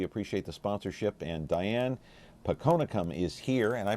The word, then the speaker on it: Phakonekham: and uh we appreciate the sponsorship and Diane ponum is here and I pronounced your name right yes you did you